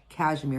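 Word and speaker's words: KSHMR: And then Hollowell Dar also released material starting in 2014 under the name, all caps, Cashmere, and it's spelled K-S-H-M-R, for those of you who know who Cashmere is.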